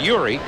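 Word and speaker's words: Jiří: Hornets 31, Chicago 26, 9:25 to go in the quarter, and George Zedek, his Czechoslovakian name is Yuri, pronounced Yuri. The George is the Americanization of that.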